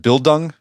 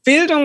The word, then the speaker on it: Bildung: Is that my pronunciation is Bildung? Yeah, Bildung, super.